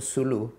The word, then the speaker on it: Sulu: So I created a parrot, and his name was Lulu, which incidentally rhymes with my wife's name Sulu.